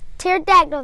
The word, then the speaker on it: pterodactyl: Did you know, we're learning about the pterodactyl this week. Did you know that the P is silent in pterodactyl?